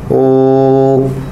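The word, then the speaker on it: ॐ: यह पीने स्वर है ओम सामान्य उच्चारण की जगह तीन गुना उच्चारण ओम यह वास्तव में तीन अ है तो आप एक कमीज़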